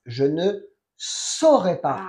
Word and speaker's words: je ne saurais pas: Je ne saurais pas. Ah. Es A-U, se pronuncia O.